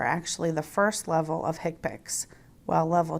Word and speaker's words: HCPCS: They are the Current Procedural Terminology, or CPT, the Healthcare Common Procedure Coding System, or HCPCS, pronounced HCPACs, and the International Classification of Diseases 9th Revision Clinical Modification, ICD-9-CM.